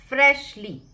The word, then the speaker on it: freshly: फ्रेशली, ये श है, हो सकता है बच्चे इसको स पढ़ें फ्रेशली, बट ये नहीं बोलना है, फ्रेशली है ये।